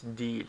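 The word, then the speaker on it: değil: simple X Y de it's written D but no one pronounces like that that everyone says deal okay you try to imitate me deal deal okay that's standard deal again de if you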